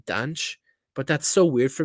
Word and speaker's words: Dante: I think a lot of people will think of Dante, or I'm sorry, the Portuguese pronunciation of Dante is actually Danche.